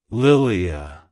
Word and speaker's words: Lilia: It's pronounced as Lilia. Lilia. Lilia. To pronounce it correctly, emphasize the first syllable L-I-L, and lightly pronounce the D-E and at the end.